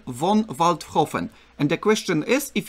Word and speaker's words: Waldhofen: I don't know, maybe you pronounce it correctly? Walter von Waldhofen.